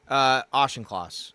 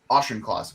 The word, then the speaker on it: Auchincloss: I'm sorry, I don't know how to pronounce his name. Auchincloss. That's right. Auchincloss.